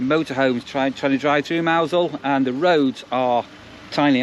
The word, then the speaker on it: Mousehole: another place um that spelled mouse hole but you actually pronounce it mousel um so it's a